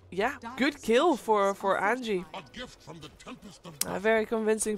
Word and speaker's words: Anji: on how to pronounce Angie's name and the Angie is the team the J and Angie is like a j sound rather Ang Ang Ang